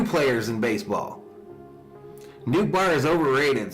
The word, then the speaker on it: Nootbaar: It is Nootbaar like in Ohtani, the pronunciation is Dutch.